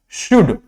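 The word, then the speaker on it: should: case में आता है for example कुड वुड शुड ये कुछ ऐसे वर्ड्स है जहां पर एल क्या होता है साइलेंट होता है लेकिन कुछ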